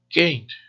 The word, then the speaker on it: can't: Can't. Acentuamos la palabra can't cuando es negativa. Además, curiosamente, no es necesario pronunciar la T, ya que la diferencia real entre can y can't es simplemente la acentuación.